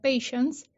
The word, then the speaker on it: patiens: se usa es patiens se escribe que se pronuncia patience que es el que